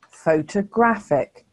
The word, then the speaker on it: photographic: here's our last word photographic here the third syllable is stressed so can you hear that the uh sound is in the second syllable if you did well